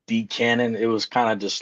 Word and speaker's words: D Canon: Because I always thought it was DC Cannon until typing it out. It's just D canon.